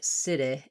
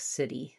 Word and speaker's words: city: So in a word like city, which has the stress on the I syllable and is unstressed on the E sound, I will often hear cit-ih instead of city, city. So I still need to